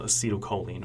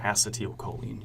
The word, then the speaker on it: acetylcholine: And that specific neurotransmitter is called acetylcholine or acetylcholine. You can pronounce it either way, but either way, I prefer the term acetylcholine.